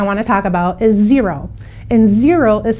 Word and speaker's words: Xero: fourth one I want to talk about is zero and zero is spelled x-e-r-o we do use zero a little